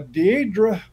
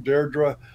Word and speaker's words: Deirdre: story right now uh deidre or i guess that's how you pronounce her name deirdre um morley of ireland